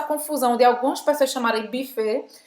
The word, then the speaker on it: buffet: Faz a boca do U e fala I. Buffet. E esse T no final não vai se pronunciar, como em português.